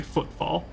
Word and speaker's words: Footfall: No, Footfall. I am just kind of running through it. The name of the planet is apparently Footfall. But I just wasn't putting a ton of emphasis on the second F, admittedly.